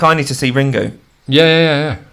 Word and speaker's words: Ringu: I need to see ringu yeah yeah yeah yeah I think it's just pronounced ring well it's written ringu so going to say how it's written I have you haven't